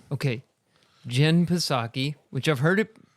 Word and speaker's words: Psaki: There's no silent letter, so it's Psaki. Okay. Jen Psaki, which I've heard it pronounced that way many times.